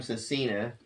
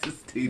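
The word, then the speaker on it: Sestina: Unless you want to call him Cecina. It's Sistina. Sistina. If that's what you want to call him. It's pronounced Sistina.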